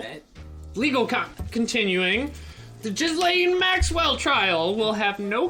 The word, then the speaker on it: Ghislaine: It's Ghislaine.